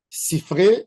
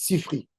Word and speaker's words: Sifré: Sifré, c'est au pluriel. Les Ashkénazes, ils ne savent pas prononcer. Ils disent Sifri. C'est une erreur.